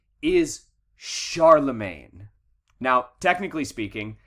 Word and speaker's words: Charlemagne: this guy's name is charlemagne now technically speaking his name is french so technically speaking his name would be pronounced charlemont however what this guy did